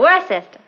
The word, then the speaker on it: Worcester: But it's spelled Worcester.